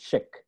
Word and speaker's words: Szyk: last name is pronounced chick as in if it had an SH in and not an s zy was born in